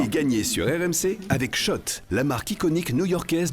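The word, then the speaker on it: Schott: Jouer et gagner sur RMC avec Shot, la marque iconique new yorkaaise depuis 1913. Oui, Shot et pas Scott. Ça fait des années qu'on prononce mal la marque.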